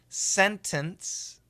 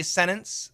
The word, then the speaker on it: sentence: Sentence has 3 pronunciations in America. Perfect pronunciation, sentence. If we say it fast, some people will say sentence, sentence, sentence, sentence, no T.